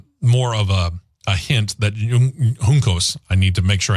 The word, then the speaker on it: Juncos: And again, this is just more more of a hint that Juncos, I need to make sure I get that proper because that's the proper pronunciation.